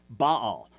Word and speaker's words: Baal: and it has to do with the word Baal. Now, you'll see this as a proper name, B-A-A-L. You normally pronounce it Baal, and you know him as